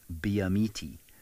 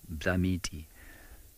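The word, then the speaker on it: Byimiti: And he's in an area that most people pronounce Biamiti, B-Y-I-M-I-T-I, Biamiti. It's actually Bamiti. It's a very interesting language, Tsonga.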